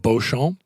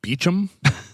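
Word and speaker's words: Beauchamp: I mean, we would look at his name and pronounce it Bon. Uh he pronounced it Beichchum.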